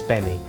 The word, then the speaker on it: Gbemi: It's spelt Gbemi, but it's Gbemi.